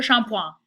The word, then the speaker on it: shampoing: It looks like shampooing in English, but that ing is a nasal sound in French, so it's pronounced le shampoing.